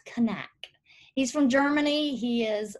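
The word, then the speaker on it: Knaack: how to pronounce that i was saying knack so but it's kanak he's from germany he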